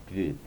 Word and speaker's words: Guð: The word Guð, which means God, should actually really be pronounced with a V. So just imagine it's pronounced with a V. Guð, like Guðmundsson is a common surname, the son of Guðmundur.